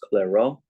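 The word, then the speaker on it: Clairaut: mixed partials this guy French his name is pronounced clero and what it says is if both the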